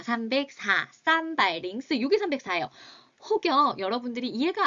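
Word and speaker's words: 三百零四: 우리 한국은 가운데 공 읽지 않지만 중국은 읽죠. 어떻게 읽어야 합니까, 여러분들? 그렇죠. 쌈바이 가운데 링스라고 읽으셔야 됩니다. 304. 쌈바이 링스.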